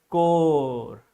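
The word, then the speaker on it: corps: We pronounced it. We spell it core. Okay, remember that P and S both letters are silent in this word national cadet core.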